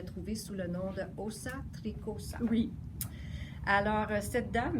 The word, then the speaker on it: Åsa: Alors, elle s'appelle Åsa Soderman. Åsa, ça s'écrit A avec un petit rond en haut, S-A. Alors, c'est pas O-S-A, mais c'est A-S-A, Soderman.